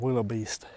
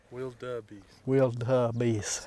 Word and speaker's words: wildebeest: I shot a Willabeast. A what? A Willabeast. Wildabeast. Say it right though. Wildabeast. No. Willabeast. Wildabeast. Willabeast. Wild with a D.